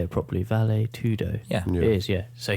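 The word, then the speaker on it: vale tudo: how do how do you say it properly valet tudo yeah it is yeah so he trained for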